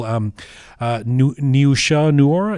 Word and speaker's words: Niusha Noor: I did notice that, for example, Niusha Noora, is that how you say her name, the lead actor?